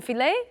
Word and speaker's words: filet: filet une filet une filet is a steak okay and again we don't pronounce the T also ballet do you